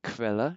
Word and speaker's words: Quelle: Then QU sounds like a KV. So this is Quelle, everybody? Quelle.